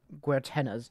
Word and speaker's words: Guertena: She's one of Guertena's.